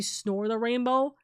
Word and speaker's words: Snore the Rainbow: And Snort, we always love you and appreciate you, even though I technically always say your name wrong and it's supposed to be Snore the Rainbow, right?